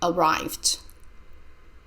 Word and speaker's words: arrived: of arrive teach Andrea arrived arrived the Ed sounds like d letter e is silent I arrived late at